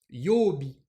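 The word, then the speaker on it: 曜日: ça arrive par exemple le mot jour de la semaine qui s'écrit comme ça ça se prononce yooby et là je voulais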